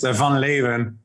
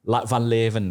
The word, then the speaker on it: van Leeuwen: Can you pronounce it for the audience for me? It's Van Leeuwen. Van Leeuwen, right?